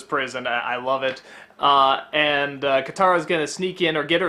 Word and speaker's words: Katara: Katara?